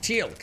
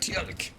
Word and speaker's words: Teal'c: Teal'c, that was it. Teal'c, another bloody annoying pronunciation. Teal'c and Gould. Gould, Teal'c.